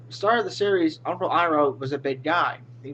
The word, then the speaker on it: Iroh: It's Iroh with an I, not an E. This, that's not an E. That's an I.